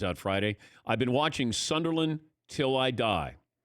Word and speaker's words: Sunderland: That's how they pronounce it. Yeah, the R is casual. Sunderland.